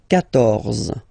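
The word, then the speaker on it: quatorze: So remember Q and U here. Well, basically you get to put this U vowel, because that's the rule in French, even if you don't pronounce it, okay? So you will get the sound K here.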